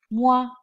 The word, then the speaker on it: moi: OI is pronounced as wa, wa. Along with M, it is moi, moi.